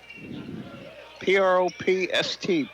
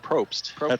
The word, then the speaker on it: Propst: P-R-O-P-S-T, Propst. And I pronounce it Probst. That's how I see it, but I know a Probst. Okay. But it's B-S-T, not P-S-T, so. There's a B in there, yeah.